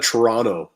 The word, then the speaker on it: Toronto: i'm just outside of toronto ontario toronto or toronto or toronto people say that they don't announce that um say that pronounce that last t is toronto that's that's how the